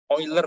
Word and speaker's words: Euler: yang cemeti ular dek met ini bacanya coiler ternyata ya match join